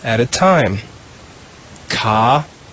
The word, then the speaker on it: caritas: In the green row, the first word is a pretty long one, but we'll just read it 1 syllable at a time. Caritas. Caritas.